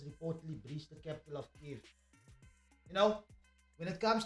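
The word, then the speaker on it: Kyiv: I've learned how to say the name correct because we all said Kiev, but it's Kiev.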